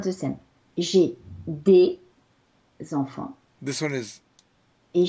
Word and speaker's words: des: J'ai des enfants This one is et j'ai deux.